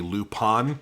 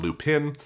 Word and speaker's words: Lupin: This dub was the first dub produced in the English- speakaking world that used the Lupon pronunciation. Uh previously like the streamline dub had gone Lupin.